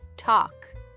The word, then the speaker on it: talk: Just like the word walk. We don't say walke. We say walk and talk. We say talk.